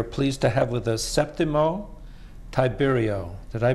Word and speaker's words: Septimo Tiberio: And this evening we are pleased to have with us Septimo Tiberio. Did I pronounce that correctly?